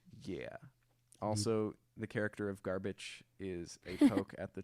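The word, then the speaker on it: Garbitsch: name one more time his name is garbage garbage garbage garbage it's garbage it's spelled g-a-r-b-i-t-s-c-h also known as trash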